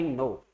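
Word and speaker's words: know: या फिर आप इसको ऐसे भी याद कर सकते हो, आई नो, आई नो यानी मैं जानता हूं, तो आई नो का मतलब मैं जानता हूं। अब इसमें के साइलेंट रहता है, ये साइलेंट क्यों रहता है वो मेरे को पता नहीं है।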